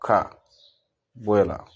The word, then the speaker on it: Kabwela: The sound starts with strong syllable Kabwela.